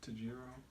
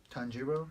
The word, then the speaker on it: Tanjiro: What Tajiro? Tanjiro.